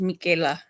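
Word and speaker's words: Michele: name was spelled m-i-c-h-e-l-e which is pronounced Michaela in Italian okay all right so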